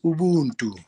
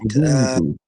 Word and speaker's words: Ubuntu: Yeah, so basically Ubuntu, it's pronounced Ubuntu, right? Ubuntu.